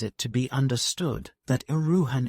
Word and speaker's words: Erewhon: to be understood that uan is pronounced as a word of three syllables all short thus Ian preface to Second Edition